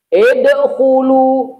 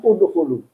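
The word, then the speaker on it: ادخلوا: Idkhulu, adkhulu, bacanya udkhulu. Kenapa? Kaedah dalam bahasa Arab kalau ainul fi'linya dhammah, huruf yang kedua, mana huruf kedua? Kha. Karena dasar udkhulu dari dakhala, dal. Huruf pertama, kha huruf kedua, lam huruf ketiga.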